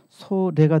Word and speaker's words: 소래: 그러니까 송천을 순수한 한글로 말하면은 솔내가 되고 이것을 발음을 연음화시키면은 소래가 됩니다.